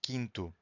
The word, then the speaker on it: quinto: If you have Q-U-I, the U is also silent. Quinto.